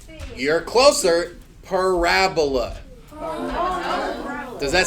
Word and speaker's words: parabola: it's a weird word this is called a parabola or as most people start out calling it a parabola because that's how it's spelled Parabola Parabola it's just